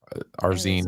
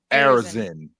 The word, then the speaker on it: Arizin: Anyways, Someone asked who Paul Arzine. I said, Arizin. like I said, I say it was Arzin. I would say his last name wrong. Who is it? Think Arizona tone. Arizin.